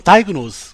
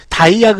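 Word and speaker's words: diagnosis: 다이그 노우스라고 멋진 발음 기호가 완성이 되었고요. 다이그노스 어 번터 발음 자 스펠링 볼게요. 다이그 됐죠 여러분? 이거 다이아그 이러지 마세요.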